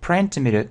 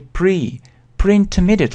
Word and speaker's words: pre-intermediate: Обратите внимание на произношение, здесь многие делают ошибку, говорят pre-intermediate, на самом деле произношение pre-intermediate level.